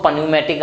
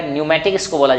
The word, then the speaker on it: न्यूमेटिक: अब बेटा देखो न्यूमेटिक, जहां भी देखो पी बेटा साइलेंट रहता है, पहली बार जान लीजिए, इसको पन्यूमेटिक आप बोलने लगे तो वो गलत हो जाएगा, न्यूमेटिक इसको बोला जाता है, ठीक है, पी साइलेंट रहता है, ठीक है।